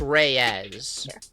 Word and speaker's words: Reyes: It's Reyes. It's a It's That's how it's pronounced is Reyes.